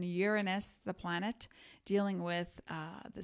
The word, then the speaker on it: Uranus: by Saturn Aquarius by the planet Uranus that is correct pronunciation Uranus the planet dealing with